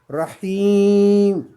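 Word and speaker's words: رحيم: Rahim. Rahim. C'est pas hi, c'est hi pour faire deux. Parce qu'il y a 2 points.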